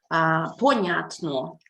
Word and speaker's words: Понятно: Понятно. Okay? So that's why stress, понятно, it's a 3-syllable word. 3 vowels in here. Понятно. Понятно. Понятно. And stress is in the middle on the sound ня.